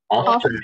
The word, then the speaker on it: often: The in this case, we say the T is not pronounced. It's mute.